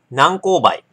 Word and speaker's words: 南高梅: んであんまりえっと南高梅南高梅は正式に何個を埋めと読みますが一般的に南紅梅と読むことが多いようです和歌山県のみなら